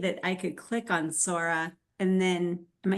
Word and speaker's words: Sora: I would love to get your thoughts on Saurus. Is that how you even say it? Oh, Sora? Sora? Sora.